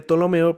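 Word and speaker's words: Ptolomeo: general llamado tolomeo es se escribe tolomeo pero tiene una p delante o sea tolomeo más o menos así luego de esta posesión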